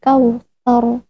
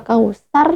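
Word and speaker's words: الكوثر: Contohnya ada di lafaz misalnya inna a'tayna kal kautsar. Nah, kal kautsar bukan kal kausar, bukan kal kausar ataupun kal kautsar.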